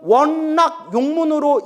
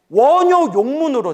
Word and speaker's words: 원요욕문: 강경도감에 100년 전 금강경 판본에는 원낙 용문으로 인쇄된 판본들이 있는데 세조 시대 때 꼼꼼하게 훈민정으로 번역한 금강경 판본에는 원요 욕문으로 돼 있어요.